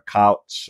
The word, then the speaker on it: Koch: name, but Julia, is either Koch or a couch, or it's K-O-C-H. But she was the wife of a billionaire. The Koch brothers. It's Koch. There we go. Koch.